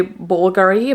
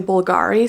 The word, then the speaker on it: Bulgari: Bulgari ones bulgary Bulgari I think you should say bulgary but I I tend to say Bulgari so if I say